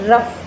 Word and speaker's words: rough: तो इसी प्रकार कभी कभी जो GH है उससे फे का उच्चारण भी आता है कई कई बार, जैसे for example रफ, ROUGH, ROUGH, रफ।